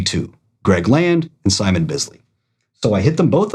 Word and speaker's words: Bisley: Uh, Greg Land, uh, Simon Bisley, and it is Bisley because I actually asked him how to pronounce his name and he said that it is Bisley.